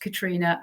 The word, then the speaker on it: Caitriona: That's the spelling, but it is pronounced Caitriona, and